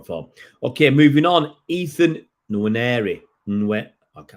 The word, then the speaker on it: Nwaneri: Ethan Nwaneri. Okay, I'll get this right because you don't pronounce the end.